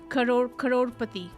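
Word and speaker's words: करोड़पति: Crorepati.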